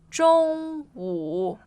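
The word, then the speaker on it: 中午: 中午 Means noon. noon. Yeah, so first tone and third.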